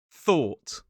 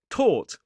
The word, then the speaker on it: thought: thought thought thought If you don't put your tongue in the right position, it's going to go wrong.